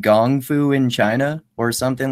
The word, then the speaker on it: gongfu: the same kanji it's a gongfu is the pronunciation in Mandarin but the show kung fu is kung fu because that's the transliteration that was used also in the old